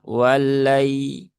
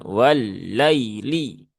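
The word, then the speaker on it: والليل: Jadi cara membacanya ya seperti sifat dari huruf lin yaitu dibaca dengan cara yang lembut saja. Wallai jangan wallaili. Wallaili. Nah, itu ee kurang sesuai ya karena lin itu dia halus ya.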